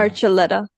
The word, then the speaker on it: Archuletta: I would just wait for his name to come up because I can't pronounce it. Excuse my ignorance. Hakim Archuletta, and Maham can correct me. Archuletta.